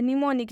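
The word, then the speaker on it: mnemonic: एक एक्सेप्शन है इसका सिर्फ एक अपवाद है निमोनिक जिसमें एम साइलेंट होता है बाकी कोई भी वर्ड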